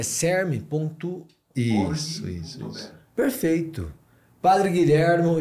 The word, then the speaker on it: CERM: Que a gente pronuncia deste jeito, não? Que é o CERM. CERM. C-E-R-M.